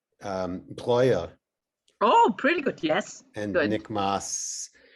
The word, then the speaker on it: Breuer: Breuer.